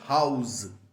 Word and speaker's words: house: house so dear children the pronunciation is house Z there is a zed at the end okay the sound should be like a zed all right now let's